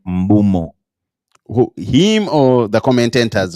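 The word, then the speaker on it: Mbeumo: He pronounces his name Mbumo. Who, him or the commentators or pundits and everything? Him. Himself. Yeah, Brandon Mbumo. I know I've called him Mbuemo for like since I knew him.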